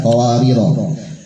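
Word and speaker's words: قواريرا: Yang pertama akhir ayat 15. Ro-nya dibaca panjang. Kemudian waqaf qawariro kedua sukun bacanya. Kemudian wasol pendek keduanya. Baik, didengarkan. Qawariro min fiddah.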